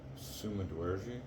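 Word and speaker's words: Sumudaerji: now um his opponent uh whose name is pronounced Summa D yes um is only an inch shorter at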